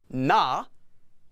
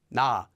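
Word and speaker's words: ㄴ: previous vowel and hear exactly what it sounds like nah nah nah nah nah nah it's not exactly like an N it's not n it's more like n n again for each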